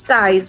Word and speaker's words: Tijs: Adriana Martins Tais, a pronúncia, né?